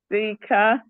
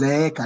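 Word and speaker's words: zeeka: It is double A. In Swahili it's double A. It's come out as Zeka, not Zika, Zeka.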